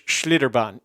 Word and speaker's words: Schlitterbahn: thank you sarah since so it's schlitterbahn schlitterbahn that's probably how it's pronounced schlitterbahn rather than than how i was pronouncing it incorrectly and probably gonna lose